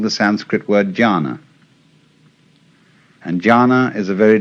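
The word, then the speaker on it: dhyāna: which in turn is the Chinese way of pronouncing the Sanskrit word jhana.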